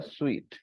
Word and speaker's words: suite: Royal Suite the Royal sweet we pronounce sweet the Royal sweet there